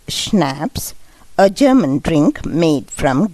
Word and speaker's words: schnapps: that was the end of the matter schnapps pronounced schnapps a german drink made from green cello a